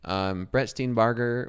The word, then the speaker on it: Steenbarger: Brett Steenbarger was... Is it Barger or Burger? Barger. Okay, I have been pronouncing it right.